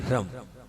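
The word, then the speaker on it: ह्रं: हां देखिए नाभि पर हरम क्योंकि बहुत सारे लोग यहां साम वाले नहीं होंगे तो हरम ह रेफ अनुस्वार ऐसे नाभि पर देखना है अपने को।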